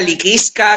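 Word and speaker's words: Lycisca: El tercero se llama liquiska, que en verdad esa es la pronunciación, pero esto se escribiría licisca con la primera i griega, ¿vale? Porque esto es una palabra latina.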